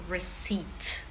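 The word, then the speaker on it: receipt: Rece p не читаємо. В нас буде просто rece.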